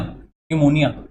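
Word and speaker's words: pneumonia: Hindi word से trick है, और न्यू से है P silent NEU, basically NEW की जगह NEU है, ठीक है। मोनिया, न्यूमोनिया, ये है, और लास्ट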